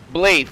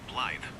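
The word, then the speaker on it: Blaidd: Actually, is the Welsh word for wolf and is traditionally pronounced closer to bllythe with a soft th sound like the. The double d in Welsh creates a voiced th sound.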